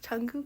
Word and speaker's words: Jungkook: Okay, how do you pronounce it? Jungkook.